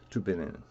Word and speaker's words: Tübingen: guess it's in Tübingen, depending on how you pronounce the German. Tübingen.